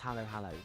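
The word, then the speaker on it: halo-halo: This one called halo halo pronounced halo halo.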